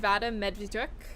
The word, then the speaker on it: Vadym Medvediuk: Sitting with me is Xenia Lappo, the producer of Good Bad Luck, and Vadym Medvediuk, the director. How was it? Did I pronounce it?